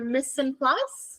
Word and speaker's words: mise en place: your ingredients to going home and doing your mise en place. How do you spell that? M I S E E N P L A C E.